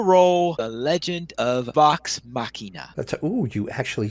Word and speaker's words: Machina: And that is that Amazon orders 2 seasons of Critical Role, The Legend of Vox Machina.